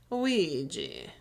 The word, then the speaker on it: Ouija: sad that you said Ouija board the way you did, because that's not how you say it. It's Ouija. Ouija board.